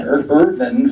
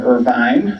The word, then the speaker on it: Irvin: No E on the end, a long E on the end, but Irvin family, and said, by the way, our name is Irvin, not Irvine, not Irving, it's Irvin.